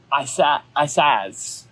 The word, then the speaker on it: Isaz: the word ice, and the way you would say that rune is Isaz.